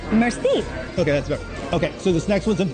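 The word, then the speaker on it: merci: you say thank you Mercy it's not Mercy it's more like Mercy Mercy okay that's better okay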